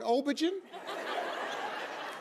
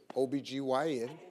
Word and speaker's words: OB-GYN: me said it says right here you're an obergen my co-host shirley strawberry was on the floor